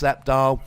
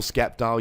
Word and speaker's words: Sceptile: But we've made it to the final against Sceptile, or Skeptile, you pronounce it however you like.